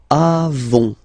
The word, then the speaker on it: avons: Then nous avons, final s not pronounced, avons, okay, and then we tend